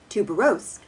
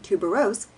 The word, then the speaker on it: tuberose: I insist, he fancifully says, on making tuberose a trisyllable always, as if it were a potato blossom and not a flower shaped like a tiny trumpet of ivory. Alas! Tuberose is a trisyllable if properly derived from the Latin tuberosus, a lumpy flower having nothing